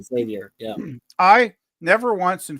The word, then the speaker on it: Xavier: Yeah, well, and you know, with what was it with Xavier? Well, that's the way you pronounce it, Xavier. That's Mhm. you know, X is like a KS. So Xavier, Yeah, Xavier.